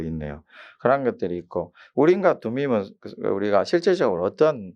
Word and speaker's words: 둠밈: 둠밈이 아니고 둠밈입니다. 둠밈인데, 우리가 우림과 둠밈이 우리 그 안에 흉패 안에다가 집어넣는데, 그 흉패에는 12보석이 있죠.